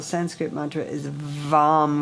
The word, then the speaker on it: Vam: And the one syllable Sanskrit mantra is Vam with a V. Vam, vam.